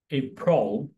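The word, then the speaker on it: April: সবসময় আমরা এভাবে উচ্চারণ করে থাকি কিন্তু এর সঠিক উচ্চারণ হচ্ছে এপ্রিল।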